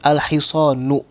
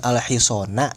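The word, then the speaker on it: الحصانُ: Maka dibacanya alhisonu bukan alhisona, bukan alhisoni.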